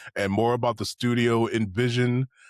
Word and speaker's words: NVZN: The description will have links to the the game itself and more about the studio, Envision, which that's how you say it, not NVZN.